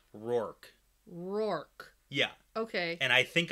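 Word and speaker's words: Rhuarc: we all pronounce it rurik and i say we all but like i pronounce it ruark in the audiobooks like it's pronounced rurik but in the glossary definition it's pronounced as one syllable rork yeah okay and i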